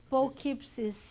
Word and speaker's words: Poughkeepsie: Clairvoyant and healer, becoming known as the, how do you pronounce the city? Poughkeepsie.